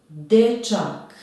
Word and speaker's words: dečak: Dečak. Akcenat je na prvom slogu. De.